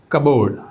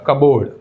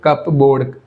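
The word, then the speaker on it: cupboard: ये भी B silent कबर्ड। यह सही है। पी का प्रोनाउंसिएशन नहीं होगा। कबोर्ड कबोर्ड कहना चाहिए। कपबोर्ड नहीं कहते इसको।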